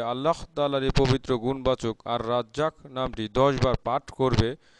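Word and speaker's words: الرزاق: এর জিকিরের আমল ও ফজিলত তুলে ধরা হলো উচ্চারণ হচ্ছে আর রাজ্জাক এর অর্থ হচ্ছে রিজিক সৃষ্টিকারী সৃষ্টিজগতের নিকট রিজিক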